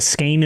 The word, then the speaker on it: skein: Uh it's a it's a skein or a skein. Yeah, it's like a skein, like a skein of yarn, apparently.